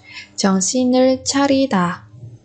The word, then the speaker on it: 정신을 차리다: 정신을 차리다. 정신을 차리다. 정신을 차리다. Ở đây chúng ta nối âm xin và er thành si nir. Chong si nir charita.